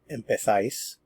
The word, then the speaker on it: empezáis: Remember, this is in Spain and they would pronounce it empezáis.